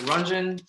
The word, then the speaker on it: Ranjan: my name is senator ranjan last name is spelled r-a-n-j-a-n it's sort of like ron john surf shop just replace the o's with the a's it is an honor